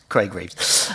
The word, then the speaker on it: Reeves: next go to councelor Craig Greaves good evening um as mentioned I joined councilor Franks in discussion you got my name wrong there though Craig Reeves um he organized uh